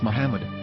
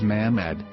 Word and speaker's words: Muhammad: Hebrew English diction Ary it is correctly pronounced as Muhammad not mammad so how we're going to know for sure if it's pronounced as Muhammad the Muslim Prophet or as mammad a random Hebrew word